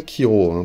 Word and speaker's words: Chiro: Alors ça s'écrit Shiro, mais on dit bien Kiro, parce que ça vient de Chiroptera, le nom scientifique de la chauve-souris.